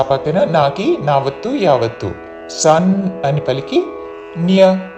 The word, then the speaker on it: నైవ: సన్యస్య సా పక్కన నాకి నావత్తు యావత్తు సన్ అని పలికి న్య నాకి యావత్తు న్యస్య సన్యస్య మత్పరాః మత్పరాః మయి సన్యస్య మత్పరాః అనన్యేనైవ అనన్యే నా మీద ఆఘాత అనన్యే నైవ నేవ అనకూడదు. నైవ అనన్యే నైవ యోగేన యోగే రెండు దీర్ఘములు చివరిలో న హ్రస్వము.